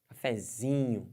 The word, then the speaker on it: cafezinho: tônica da palavra cafezinho cafezinho pode forçar a vontade cafezinho cafezinho força bastante e você vai ver que fica legal aqui então o z é a sílaba tônica dessa palavra Mas tudo bem E